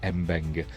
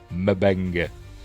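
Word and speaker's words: M'Benga: Mabena, I'm I'm still going to call him Mena even though in the show they pronounce it Mbena, but I'm going through uh McCoy's pronunciation from the original series Mabena, not Mbena because this isn't cannon, but we're watching anyway.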